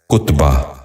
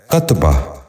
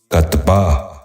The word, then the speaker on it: کتبہ: غور سے سنیے، کتان۔ تیسرا لفظ ہے کتبہ۔ یہ غلط تلفظ ہے، درست تلفظ ہے کتبہ۔ دوبارہ سنیے، کتبہ۔ بچوں آپ بھی غور سے سنیے، کتبہ۔ چوتھا لفظ ہے کرچھا۔